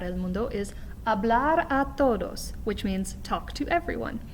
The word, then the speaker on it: todos: initial c sound but the way i want you to pronounce the t in todos is what we call a dental t so instead of putting